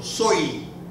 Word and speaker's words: soy: But if the Y appears at the end of a letter, usually after a vowel, then it's pronounced like a letter E. So soy, E, exactly E. Soy, as in I am, soy, and yo, double.